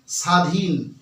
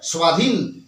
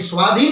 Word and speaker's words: স্বাধীন: আমরা যদি বলে দিই স্বাধীন তাহলে হবে না আমাদেরকে কি বলতে হবে স্বাধীন স্বাধীন এই স্বাধীন বললে তবে দেখো ও আসছে সুতরাং যুক্তাক্ষরে যদি ব